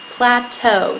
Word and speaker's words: plateau: ok so there's a plateau at the top plateau that's how you say it next we have